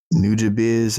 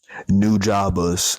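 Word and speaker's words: Nujabes: Um niz, I think that's how you say it. Matter of fact, no, cuz I literally was trying to remember like, all right, can I say this right before I record? How do you say it? Google New Jabas. There we go. I was wrong.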